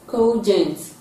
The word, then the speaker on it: cogent: Option B, it is pronounced as cogent. Cogent. This rhymes with the underlined sound in coma.